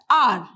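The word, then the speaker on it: hour: we say it as r so only o u r is pronounced h will be silent here so when a h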